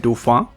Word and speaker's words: Dauphin: बारे में बात करेंगे इसका नाम है डूफां। ये टिपिकल फ्रेंच प्रोनाउंसिएशन है, इसका मतलब है डॉल्फिन, लेकिन कई जगह पर इसको डॉफनी बोला जाता है और इसी वजह